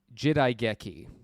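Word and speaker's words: 時代劇: of a tantamount to period drama and it's pronounced jidaigeki huh now that sounds familiar huh yeah and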